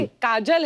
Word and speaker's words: काजोल: काजल है ना, but काजल होता है, काजोल हाँ, मतलब बंगाली में spelling है, काजोल। बंगाली में ऐसे बंगाली में लिखते हैं। ऐसे उसका प्रोनाउंसिएशन है पर सर।